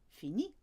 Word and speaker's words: finis: So first of all, let's take finir, a regular IR verb in the present tense, and we'll just flick off that final R to get the right sound. Je finis.